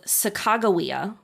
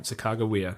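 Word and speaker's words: Sacagawea: of her name um so sagaia okay um this is the relative spelling and pronunciation that we know from Lewis and Clark's journals okay um it's also what's used by the US government and by a large number of historical Scholars all right sagaia there you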